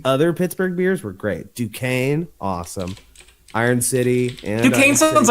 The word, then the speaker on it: Duquesne: It's probably I never Yeah, would they have do it guessed as- that is how you say Duquesne.